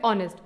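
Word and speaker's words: honest: letter जैसे आपके सामने सबसे पहला वर्ड है ऑनेस्ट तो ऑनेस्ट बोलने पे किस लेटर की साउंड नहीं आ रही है एच की नहीं आ रही है इसका मतलब है कि एच क्या है साइलेंट लेटर है अगला वर्ड है टॉक तो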